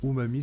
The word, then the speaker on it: umami: Donc, l'umami, prononcé umami, se traduisant généralement par savoureux, est l'une des 5 saveurs de base avec le sucré, l'acide, l'amer et le salé.